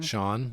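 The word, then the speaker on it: Schon: Neil Schoen is that you say his name Sean thank you uh face off in court over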